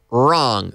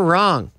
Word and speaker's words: wrong: has it W but the W is silent wrong they're wrong missed any key Mikado's